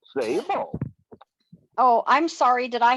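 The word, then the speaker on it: Szabo: Sabo. Oh, I'm sorry. Did I hear an echo? What was that name? John F. Zabo. Okay. John F. Zabo. Zabo is spelled S-Z-A-B-O.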